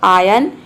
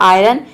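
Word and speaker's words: iron: silent रखते हैं इसका इसको हम दो तरह से प्रोनाउंस करते हैं दोनों प्रोनंसिएशन करेक्ट होता है एक होता है आयन या फिर आयरन यदि र को आप प्रोनाउंस करें तो ये हो जाएगा आयरन यदि आर को आप साइलेंट रखते तो ये हो जाएगा आयन दोनों प्रोनंसिएशन करेक्ट है आप जो चाहे प्रोनाउंस कर सकते हैं आयरन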